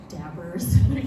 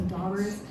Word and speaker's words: daubers: Specifically, I wanted to find a manufacturer for the daubers, or I guess some of you say dabbers, just like me, kind of use the original pronunciation, so daubers.